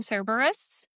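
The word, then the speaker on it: Cerberus: Is that how we're pronouncing Cberus?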